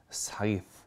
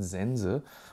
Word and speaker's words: Scythe: es diesmal richtig ausgesprochen es heißt nicht Sky und auch nicht Sky sondern eigentlich soll es wenn ich es jetzt richtig gelesen habe si aus gesprochen werden das heißen Sense und dementsprechend kommen auch die